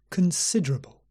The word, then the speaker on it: considerable: accessible no acceptable accessible and the third word also has a schwa in the first syllable considerable considerable not con it's not or it's Kun considerable but we still stress the second syllable considerable considerable considerable and